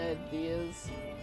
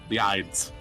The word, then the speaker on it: Ides: pum I came out believe you pronounced it ideas I thought there was an a there no is is in